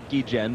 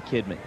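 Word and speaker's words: Guillén: the source of controversy I must pronounce the key Jen because that is what you have decreed and yet the players have begun the kidney Kubek still making you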